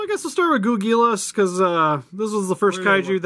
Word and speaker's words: Ghoulgilas: So I guess we'll start with Ghoulgilas, because this was the first How do you say his name, Steve?